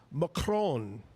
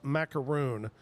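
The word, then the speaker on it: macaron: Uh Kevin Kevin uh he said that actually it's pronounced macron. That's the proper way to pronounce macaroon.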